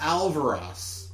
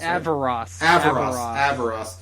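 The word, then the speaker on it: Averross: a character named Rael Alvaros. Not Alvaros, it's Alvaros. Avaros. Avaros. Rael Avaros.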